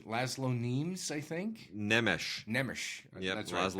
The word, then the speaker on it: Nemes: By Wade, you're the master of foreign pronunciation. Laszlo Nemes, I think. Nemes.